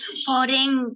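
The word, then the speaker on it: foreign: कथा एफ ओ आर ई आई एन जी फॉरेन फॉरेन म्हणजे परदेश फॉरेन फॉरेन जी एन ए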